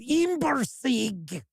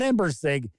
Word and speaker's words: Imbersig: There you go, I'll say it like that. Imbersig. Not Embersig, Imbersig.